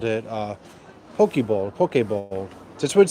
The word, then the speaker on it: poke: and I called it poke bowl. That's what it says in Korea, poke. And people are like, no, it's pronounced poke. And I was like, look, it literally says poke.